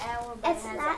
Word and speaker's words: hour: The hour on the clock is spelled with that hour, but it has an H in it, and that H is a silent H, isn't it?